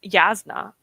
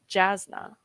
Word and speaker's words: Jasna: I swear it's Yasna. It's pronounced with a Y sound, not Jasna.